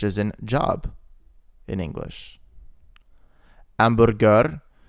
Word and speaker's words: hamburger: in job in English, hamburger, the H sound is silent in Italian.